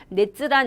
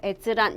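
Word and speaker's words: 閲覧: 이렇게 하면서 그거를 넷즈란 이렇게 하시면 안 돼요. 자, 열은 우리가 여러분 뭐라고 한다고? 여기서 볼 열자는 에즈예요. 에즈. 되셨어요? 그쵸? 열람은 자, 뭐라고 한다? 에즈란이라고 한다. 주의하셔야 되겠죠?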